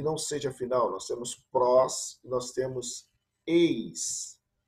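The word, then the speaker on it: πρός: avançando mais um pouquinho e nós temos aqui pros eu vou repetir a pronúncia pros nós temos um pin com rua nós temos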